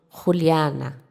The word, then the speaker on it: Juliana: Ele vai ser pronunciado Ruliana. Ele abre esse som do a.